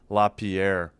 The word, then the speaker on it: Lapierre: So is uh Oh, I thought it was Dow. It's not. It's La Lapierre. All right. W sends it behind the net. Laierre. Laierre. I don't know how to say it. It's La Pierre.